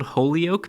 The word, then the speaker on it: Holyoke: Jeep Wranglers in the Springfield, Holyoke, Massachusetts area. Proud of myself, I pronounced that correctly.